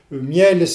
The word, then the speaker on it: miel: Par exemple, le mot miel, il est en une syllabe, et vous avez le mot lion qui doit se prononcer en deux syllabes.